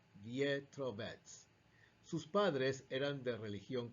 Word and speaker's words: Vetrovec: En su idioma natal, el checo, la letra E en su apellido se escribe con un símbolo llamado carón y se pronuncia Pietrovec.